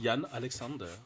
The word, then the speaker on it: Jann Halexander: me mandó tu nombre, lo escribió con H, Alexander. Está bien así. ¿Y cómo lo pronuncian? Porque cuando dije, ay, bueno, este tío tiene también una cosa así muy nórdica, Alexander. Y entonces, pues te pregunto, ¿cómo lo pronuncias? Es Jan Alexander.